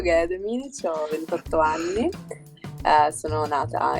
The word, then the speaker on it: Gaia Dominici: Allora, io mi chiamo Gaia Dominici, l'hai detto giusto, e l'accento era giusto. Gaia Dominici, ho 28 anni, sono